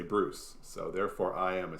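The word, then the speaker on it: brousse: and it turns out a French dual land is spelled B-R-O-U-S-S-E, which is pretty close to Bruce. So it turns out in French, if you want to describe a scrub, you just say Bruce.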